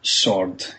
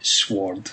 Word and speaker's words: sword: he had to he had to pronounce sword correctly and not say sword and stuff like that